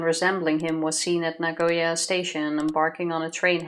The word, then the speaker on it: Nagoya: he headed to Naya to where nag oh Nagoya nagya he swore to come back someday he